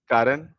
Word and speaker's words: Karan: It's Karan. Yeah, Karan.